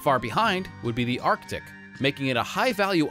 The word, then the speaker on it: RTIC: The RTIC or pronounced Arctic 20Q hard cooler.